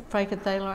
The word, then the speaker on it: Frankenthaler: um because she did the did i say frankenthaler i meant frankenthal no you said it right